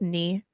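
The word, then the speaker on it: Nghi: I don't want It's to mispronounce knee. someone's name. It's just knee.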